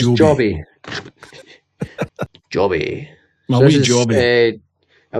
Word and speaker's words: Joby: This is it pronounced Joby or Jobby? I'm never Well, we're sure. Scottish, so we'll call it Jobby, but I think it is It's Joby.